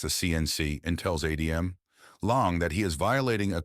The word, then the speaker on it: Laung: Long, pronounced long.